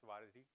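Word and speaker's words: వారధి: It's actually a Telugu word, and it's pronounced as Varadi, and its meaning is a bridge.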